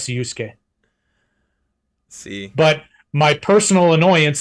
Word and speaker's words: Urus: just the way it is yeah technically it's Urus see but my personal annoyance is when people